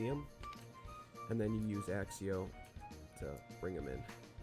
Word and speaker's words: Accio: see her third ability axio how you say it with a little extra axe in it i know it's not accio that's that's whack pick an ally or